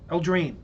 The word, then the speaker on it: Eldraine: It's like Eldrine or Elderheim. Eldraine. Eldraine. Eldraine. There we go.